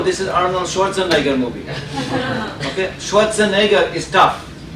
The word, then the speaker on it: Schwarzenegger: is Arnold Schwarzenegger movie Schwarzenegger is tough if you can pronounce shorts and a girl you can pronounce window